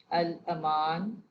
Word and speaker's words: الامان: واضح کیجیے۔ یہ ہوگا الامان، ال، الف زبر، لام ساکن، الف کے اوپر زبر، میم کے اوپر زبر، الاما نون ساکن۔ مراجعت، شیر خوار، میں